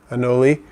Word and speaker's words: anole: have on an only I guess the real pronunciation is anole I always want to say an old but anole when I was a